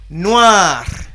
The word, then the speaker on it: noir: We have another color, noir.